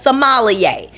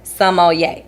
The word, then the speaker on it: sommelier: pronounce someone yay okay some of y'all might know it as somalia but i don't want to hear none of y'all saying sommelier ever again okay some moliere okay y'all hear me some ol yay so i need y'all to pronounce that word sommelier not sommelier okay some money all